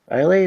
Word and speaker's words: Islay: Isla, I guess it's how it's pronounced, but it's spelled Islay.